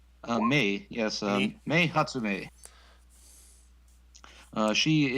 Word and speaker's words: Mei: Next is, how do you pronounce that? Is it May or Mai? Mei, yes, Me?